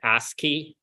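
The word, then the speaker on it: ASCII: of the schemes is asky so this is pronounced asky and this is for like American Standard something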